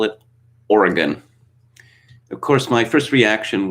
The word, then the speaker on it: Oregon: washington state with seattle that's not how it's pronounced or another one of my favorites oregon nope the natives call it oregon of course my first reaction was uh when